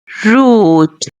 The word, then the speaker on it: route: So, the correct pronunciation of this word is root, root, root.